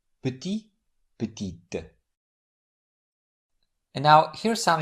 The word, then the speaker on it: petit: In the first word, the final T is silent put, but it's pronounced in the derivative word putit, which in this case is the feminine form of the adjective. What makes the final consonant pronounced is the vowel e added at the end. So the masculine form is put with silent t at the end and the feminine form is with pronounced ty petit.